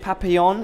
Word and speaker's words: Papillon: I'm here with Richard Papillon. Is that better pronunciation this time?